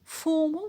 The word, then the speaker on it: formal: Formal, the stress is on for.